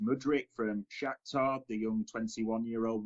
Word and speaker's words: Mudryk: Yeah, again, maybe another one to butcher, but I think it's pronounced Mudryk from Shakhtar, the young 21-year-old winger.